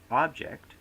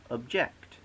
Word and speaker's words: object: word attribute becomes attribute the word object becomes object the word present becomes